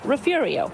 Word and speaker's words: Refugio: She believes that Spanish name refugio was adopted in different ways by Anglo and Irish settlers, leading to local pronunciations like refugio.